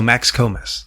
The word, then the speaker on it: Max Komes: So Max Komes.